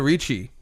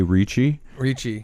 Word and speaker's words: Ricci: And Google her name too, because I think we all say Ricci, but I don't think it is. I think it might be like the first C is pronounced like an S. Yeah, and the second one is a K, so it's like Christina Risky.